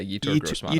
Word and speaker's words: Yetur Gross-Matos: Let's go with I don't know how to pronounce his first name. Gross Matos out of Penn State. Yetur. Yeah, Yetur Gross-Matos.